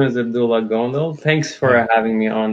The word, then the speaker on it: Gondal: Is that how you say it, Gondal? My name is Abdullah Gondal.